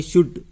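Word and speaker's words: should: काप, इसको क्या बोलेंगे अपन, काप, तो एल का उच्चारण नहीं हो रहा, है ना, इस तरह से इसमें साइलेंट वर्ड अपन बताना है। इसको बोलेंगे शुड, क्या बोलेंगे इसको, शुड बोलेंगे, तो इसमें एल साइलेंट है।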